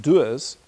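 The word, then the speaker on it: Dewar's: whiskey which is spelled D W RS and pronounced doers the ad went as follows that in life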